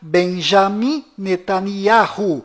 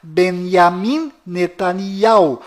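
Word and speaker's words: בנימין נתניהו: bom Voltando ao assunto fora de Israel o nome deste primeiro ministro é pronunciado Benjamim nanaho mas dentro de Israel o nome dele é pronunciado benam netania confira fora dentro fora benes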